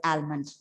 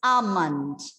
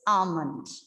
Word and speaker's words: almond: pronouncing the word as almond. So here, the thing is, you have to make sure that the L doesn't sound. L is silent. It is almond. Okay, it's almond.